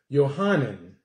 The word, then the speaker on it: Yohanan: In the Greek, his name is pronounced Yohanan.